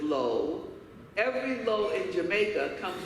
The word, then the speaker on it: Law: And they said, "Every law," and they pronounce it Lowe, "every Lowe in Jamaica comes from one of two villages in China.